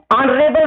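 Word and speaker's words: honourable: ऑनरेबल मैन, ठीक है, एच जरूर है लेकिन उसका जो उच्चारण हो रहा है आर से हो रहा है ना, ऑनरेबल, इसलिए एन का प्रयोग हुआ है।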